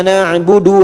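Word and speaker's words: نَعْبُدُ: Iyyaka na'budu wa iyyaka nasta'in. Du-nya pendek. Harakatnya pendek, ya. Kalau hafaz, iyyaka na'budu wa iyyaka nasta'in.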